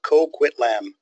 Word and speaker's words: Coquitlam: Vancouver is and the nobody can seem to pronounce the name so they've got a little bit of a phonics there for Coquitlam so Coquitlam is where we are and let's